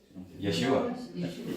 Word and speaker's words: Yeshua: And so, does anybody know how to say the name Jesus in Hebrew? Jesus. Yeshua. It's Yeshua. It's the same name.